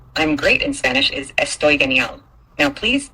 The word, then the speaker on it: Estoy genial: "I'm great" in Spanish is "Estoy genial." Now, please say it back to me and I'll check your pronunciation. Estoy boy.